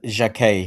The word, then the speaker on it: Jacquet: Yeah, it's uh, Jac, that's how you say it.